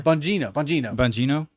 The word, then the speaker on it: Bongino: Bonganilo or Bondingo or whatever. Bongino.